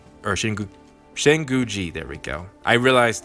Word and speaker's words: Shinguji: But and also, so Sakura could have her moment in saying she wants to be like Shinjuki, or Shinguji, there we go.